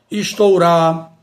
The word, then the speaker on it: estourar: Portanto, temos aqui exemplo de vários verbos que não devemos pronunciar com a vogal O aberta, e sim fechada. Afrouxar, estourar, pernoitar, roubar.